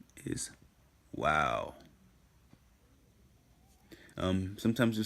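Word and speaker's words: וָו: alright hey and in the next letter is Wow sometimes the C pronounced as valve um that is due to some late influence excuse that WEA Wow is the way you should pronounce it in my opinion because it is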